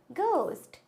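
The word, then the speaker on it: ghost: वो क्या होता है घोस्ट तो एच होता है इसमें साइलेंट नेक्स्ट लिसन मैंने अपनी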